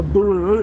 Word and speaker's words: buoy: We're headed for a boy or as the Americans call it, a buoy bu you have to say it like that if you're American.